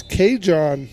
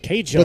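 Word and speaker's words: Cajuan: His name is spelled C-A-J-U-A-N. I believe it's K-John. K-John.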